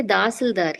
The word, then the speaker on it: Tahsildar: We say Dasildar here, sir. Tahsildar?